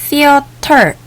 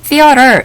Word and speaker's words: theater: theater 혹은 theater 이라고 발음을 하는 영화관, 극장입니다.